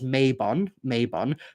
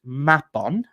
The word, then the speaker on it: Mabon: So a lot of people might know it as Mabon, the autumn equinox within the kind of neo-pagan wheel of the year. The word Mabon is actually pronounced Mabon, and it's a Welsh word, and it has nothing to do with the autumn equinox.